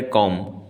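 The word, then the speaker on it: comb: हैं क्या कहेंगे इसको इसको कहा जाता है कॉम इसमें बी साइलेंट है लास्ट शब्द साइलेंट है कॉम कहेंगे एम सिर्फ एम पर आप रुक जाएंगे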